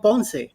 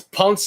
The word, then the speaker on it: Ponce: Like Ponce de Leon, yes. But Ponce de Leon is just in the right way to say it. Ponce. Just an accent on the E at the end.